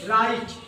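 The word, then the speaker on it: write: तो dear student यहां देखिए डब्लू और आर के बीच में कोई वोवेल नहीं है। तो कोई वोवेल ना होने के कारण यहां पर डब्लू चुप रहेगा। यहां पर डब्लू पहला अक्षर साइलेंट रहेगा। चुप रहेगा।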